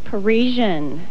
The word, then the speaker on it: Parisian: I used to say Parisian. I say Parisian. And then somebody said, no, it's Parisian. Which one is it? I was cleared out. We've been well-trained. It is Parisian.